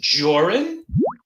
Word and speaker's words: Jorrun: My name is Jorrun. That's Jor, rhymes with or, and run, which is what you would do if any of us ever came down to bumfuck Maine to look for your ass.